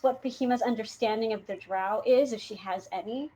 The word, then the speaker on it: drow: even saying it right i used to say dro but jeff pronounced it drow so that's what we're gonna go with there you go